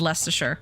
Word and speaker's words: Leicestershire: I said Lincolnshire, and then I said Leicestershire, and I know that the first one I mispronounced. Lincolnshire, right? Or do you do a harder I on that one? Lincolnshire, right? And Leicestershire. Sheer.